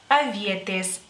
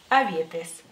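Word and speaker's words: avietės: lituano frambuesa y frambuesas se dice aiete en singular aiete y en plural avietes avietes la siguiente fruta que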